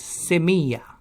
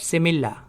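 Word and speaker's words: semilla: like to say Spanish word for seed is Samia not similar Samia double-l in Spanish is pronounced as yeah Samia and Spanish for tree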